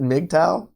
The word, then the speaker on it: MGTOW: Reva you didn't know that's how we pronounced it mgtow all right I'll give